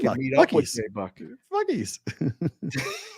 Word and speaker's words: Buc-ee's: Bucky's. It's Bucky's.